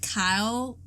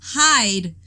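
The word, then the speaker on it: Hyde: help but feel like Kyle um Kyle see I keep on getting his name wrong hide oh my god his name is hide I can't have it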